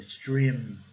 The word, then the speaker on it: extreme: A letra E com som de I, que eu falei, aquele I prolongado, né? Extreme.